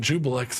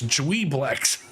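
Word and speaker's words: Juiblex: I've been pronouncing it Jubilex this whole time. I mean, we've all been pronouncing it wrong. We've been pronouncing Tharzadune wrong for That was also years. because of my dyslexia, and I wrote it down that way. And I also wrote it down Jubilex. It's Dweeblex.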